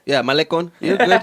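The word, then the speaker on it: Malecón: Yeah, Malecon.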